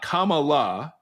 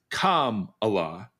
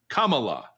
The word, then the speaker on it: Kamala: It's not Kamala, it's Kamala. It's like if you were just trying to say the word comma with a la at the end. Kamala.